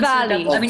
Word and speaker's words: Diwali: Because it's pronounced Diwali. Vermont. It's Diwali. Spelled with a W. V for Vermont.